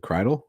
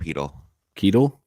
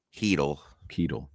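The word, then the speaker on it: Chytil: uh Philip is it cdle Philip CLE uh Philip heel kle heel kle he he like like you're saying he like h e like he he so the C is silent okay that's weird um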